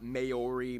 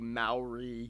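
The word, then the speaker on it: Māori: Korea and Japan yes by the way it's pronounced mo Rinat Maori Maori they use the New Zealand dollar as their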